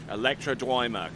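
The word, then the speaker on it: Ntoima: And it's uh the N&T is pronounced as a D. So they tell me. Electrodima coming in.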